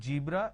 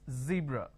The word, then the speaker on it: zebra: Now what people make a mistake is they replace the z with a j. So what they do is they pronounce this as zebra, John, Jeel. So please don't make a mistake. The moment you replace the z with a j, it's a mispronunciation. It's not zebra, it's zebra.